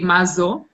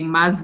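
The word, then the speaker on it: מה זו: Now, I think the correct way to say is to say mazo. Many times people that speak modern Hebrew would say maze, and then they would answer in female, zo matana.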